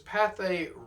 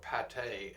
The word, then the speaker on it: Pathé: We're going to wrap up part five of the vintage stuff auction with this Pathé Records Globe, or Pathe as some like to uh pronounce it.